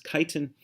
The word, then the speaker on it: chitin: durable carbohydrate called chitin you don't pronounce the ch but it's chitin and fungi don't have